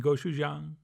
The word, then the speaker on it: gochujang: and by the way if you're having trouble pronouncing goou Jang just try saying go Chef Jan only a lot faster and you will have it but anyway we'll mix